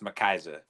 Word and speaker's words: McCyza: of kind of interesting last name but it's pronounced makisa okay well there we go I'll talk to